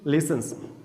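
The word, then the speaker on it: listens: मान लीजिए मैं कहूँ यस ही लिसन्स, T silent letter है, यस, ठीक है। मुख अक्सर होता है, इसका प्रोनाउंसिएशन नहीं होता, यस।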